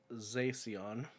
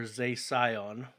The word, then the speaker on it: Zacian: And the reason why I say it's pronounced Zacian or Zacion is because it is derived from the word scion, as in the As in the car that nobody wants to drive?